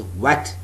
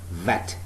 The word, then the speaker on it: vet: spellings are p-e-t so please do not pronounce it as what w-e-t no it is upper teeth lower lip vet the next is per